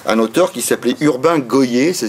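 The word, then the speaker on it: Gohier: Et puis vous avez en 1909 un auteur qui s'appelait Urbain Goyer, ça s'écrit G-O-H-I-E-R, qui publie, lui, La Terreur juive.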